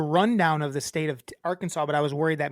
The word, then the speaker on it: Arkansas: say the word the name Arkansas wrong it's pronounced Arkansas and like when people say Aransas they don't like it no apparently they're like